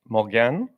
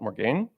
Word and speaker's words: Morgane: And I have learned it is properly pronounced Mulan. Um not Morgan.